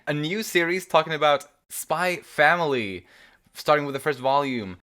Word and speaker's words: Spy × Family: under the impression that this series is pronounced spy family with no x pronounced in the middle um if anyone knows better let us know but i think this